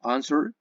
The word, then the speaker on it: answer: Pero, en este caso, answer, si te das cuenta, cuando lo pronuncio, el stress vowel se encuentra en la primera sílaba. Answer, answer. No digo answer, digo answer. Si el stress vowel se